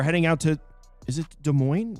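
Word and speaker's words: Des Moines: Last time I tried to pronounce a name, everybody made fun of I'm pretty sure it's De Moines.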